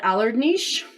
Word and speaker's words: Alarednik: I call it Alardnish. It's spelled like Alarednik.